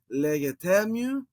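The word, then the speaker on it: λέγετέ μοι: So as I've said in a previous episode, when you get the two accents, you actually do two stresses when you're doing pronunciation. So legetemu, it's a little bit challenging.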